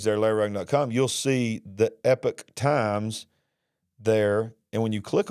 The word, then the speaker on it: Epoch Times: from the epoch times which I was told that is pronounced Epic Times uh and I'm sorry that I mispronounced that in recent years the